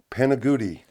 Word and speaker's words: Panigutti: And I'm Kirk Tietz, and today we're interviewing Matt Panigutti. Did I say it right? Panigutti.